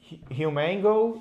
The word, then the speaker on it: HumanGO: So the how how do you guys pronounce it? Well, if we could think about two separate words and really our driving force which is that we make humans go. It is human go.